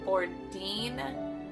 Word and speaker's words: Bourdin: He was a 23-year-old man named Frederick Pierre Bourdin, I believe is how it's pronounced.